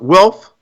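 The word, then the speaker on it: Wilf: I believe their name is pronounced Welf.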